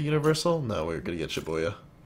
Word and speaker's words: Shibuya: No, we're gonna get Shibuya. I think I said that right. Shibuya? Yeah, that's how you say it.